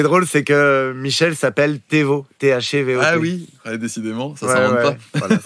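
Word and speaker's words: Thévot: Et ce qui est drôle, c'est que Michel s'appelle Thévo, T-H-E-V-O-T.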